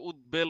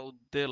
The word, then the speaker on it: উদ্বেল: চার রাস্তার মাহার উদ্বেল এটা কিন্তু উদ্বেল উচ্চারণ হবে না উদ্বেল হবে ঠিক আছে দ এর নিচে ব থাকলে সেটা দুইটা দর মত উচ্চারণ হয় ঠান্ডা লাগছে আমার একটু